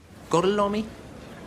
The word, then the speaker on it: Gorlomi: Gorlomi? Lo pronuncio correttamente? Sì, corretto.